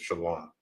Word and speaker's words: shalom: There is no shalom with an O, because there is no O in the Hebrew. All right. This here is the proper way to say and write out and pronounce peace in Hebrew, which is shalom.